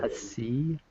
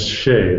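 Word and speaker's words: Hsieh: Hassi? That's Shea. It doesn't sound like it's spelled, but Shea.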